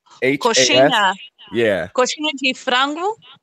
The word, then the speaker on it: Coxinha: This one is spelled COXINHAS.